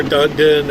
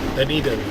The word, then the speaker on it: Dunedin: Duneden is the way the lady at the gas station pronounces it. Because I told her Dunedin or Dueden or she goes Duneden.